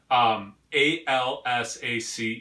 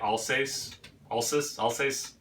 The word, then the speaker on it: Alsace: Alsace. So like Al and then a word that rhymes with face, like but with an S. So like Alsace.